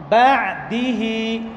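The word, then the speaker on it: بَعْدِهِ: অনেকে আইনকে উচ্চারণ করতে গিয়ে, আইনকে সাকিন দিয়ে উচ্চারণ করার সময় কলকলার মতো হয়ে যায়। বা'দিহি বা'দিহি, এই যে কলকলার মতো হয় এমন যেন না হয়। বা'দিহি, আইন পাতলা হবে এবং জায়গা থেকে নড়ে যাবে না।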